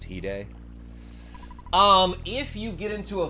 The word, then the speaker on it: Hide: I don't recognize Japanese characters, but I know I have a friend that has a Japanese name and it's pronounced Hide.